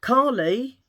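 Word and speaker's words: Kali: Callie. Call No. Callie. Callie. Like my daughter Callie, but it's spelled K A L I.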